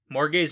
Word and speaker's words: Morgause: So, Morgase in Wheel of Time is probably inspired from Morgase, which is pronounced the same, but it's spelled Morgause.